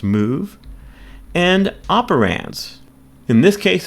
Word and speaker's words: mov: And that's move ra. And this is the first assembly instruction. Assembly instructions consist of two parts. An operation specified by what we call a pneummonic in this case mv pronounced move and operands.